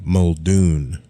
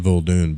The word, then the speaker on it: Muldoon: Muldoon. I keep saying Muldoon, but it's Muldoon. How many times have I called this guy Muldoon when it's Muldoon?